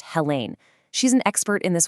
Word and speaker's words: Helen: A fantastic resource is Helen Matthews and her first name is pronounced Hela.